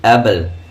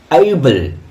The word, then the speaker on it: able: For example ABLE কি উচ্চারণ হবে? আমরা কি বলি? অ্যাবল, নট অ্যাবল। এইবল, এইবল কি উচ্চারণ? এইবল।